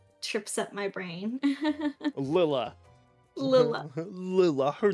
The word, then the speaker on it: Lila: How to pronounce L-I-L-A.